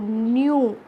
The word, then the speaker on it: knew: त्रिशूल न्यू, KNEW न्यू. बेटा इधर के साइलेंट है और ये NEW न्यू नहीं है.